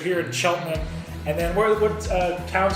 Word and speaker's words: Cheltenham: so when I look at it I say shuttle hand but it's Cheltenham if you the local pronunciation here in Cheltenham and then what uh count to the other